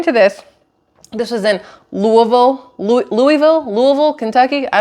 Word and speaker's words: Louisville: L Louisville Louisville right know how you do it Louisville you're supposed to say it like you have a mouth full of marbles that's how it was explained to me so Louisville whatever the